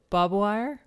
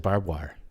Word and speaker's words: barbed wire: was there that's right do you say bob wire no what do you say i said barbed wire barbed wire so bob